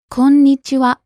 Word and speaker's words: こんにちは: Konnichiwa. You hold the n sound for a little bit, don't you?